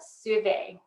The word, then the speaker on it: Suave: her on instagram and her name is spelled like suave s-u-a-v-e it's alexandra souvay and i am um